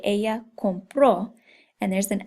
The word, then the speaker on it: compró: It's very important that you have that accent because if you don't and you just say compró, that could mean I buy in the present tense.